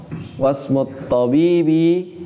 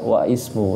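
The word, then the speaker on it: واسم الطبيب: Jadi bacanya wasmut tabibi, tidak wa ismu ya. Sebenarnya wa ismut tabibi, cuma karena hamzah wasol maka diwasolkan menjadi wasmut tabibi.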